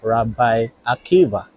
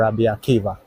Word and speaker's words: Rabbi Akiva: So this is Rabi Akiva street here it says Rabbi Akiva or Rabaka however you want to pronounce it.